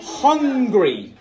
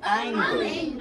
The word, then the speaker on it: hungry: Hungry. Hungry. À ne pas confondre avec angry. Mais écoutez-moi les deux. Écoutez-moi les deux prononciations. Angry, hungry. Hungry.